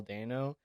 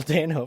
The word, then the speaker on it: Dano: I absolutely adored Paul Dano. Is that how you pronounce it? Dano? Yeah, Dano.